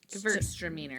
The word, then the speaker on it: Gewürztraminer: Yeah, Like it's- the W is a V. Gewürz. Gewürztraminer. And then there's the Gewürztraminer? lot. I think Sure. Gewürztraminer.